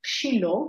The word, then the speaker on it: Shiloh: pronounced and therefore shiloh this is how it is spelled in hebrew in some translations of the bible will be shiloh which is the right version but it also